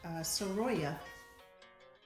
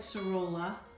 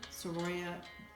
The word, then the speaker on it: Sorolla: this week's artist is Surya it looks like sorolla but in espanol they pronounce that double L as of Y so this is Joaquin